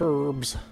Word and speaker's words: herbs: to do that go pick herbs although i don't pronounce the hard h song the clippers